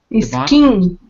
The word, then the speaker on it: skiing: Skiing. Good. Okay. Notice it's really 2 syllables. Skiing. Skiing. But you got to separate it more.